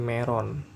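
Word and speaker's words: メロン: Dia jadi, ini dibacanya kalau dibacanya jadi meron. Nah, meron ya. Sekedar info aja, orang Jepang itu nggak bisa nyebut L. Jadi dia hanya bisa nyebut L-nya diganti jadi R gitu ya.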